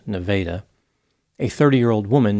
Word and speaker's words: Nevada: miles Southwest of Clinton the town's name is spelled like Nevada but apparently it is pronounced Nevada a 30 year old woman named Cheryl Ann